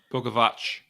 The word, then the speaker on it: Bogovac: I think I said that right, actually. Bogovac. The Carolina pronunciation website might have said it different, but whatever.